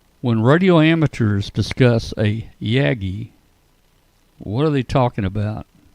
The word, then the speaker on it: Yagi: When radio amateurs discuss a Yaggi, what are they talking about? Or is that a yagi? Yaggi. Yagi. Potato. Potato. You know, using the Japanese pronunciation, I'd say it would have to be Yagi.